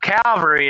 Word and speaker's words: Calvary: word Cavalry and Cavalry people get that mixed up Calvary is where Jesus died that's an ale in there Cavalry c-a-v-a l r y is like a troop of soldiers memory not Calvary there's an L in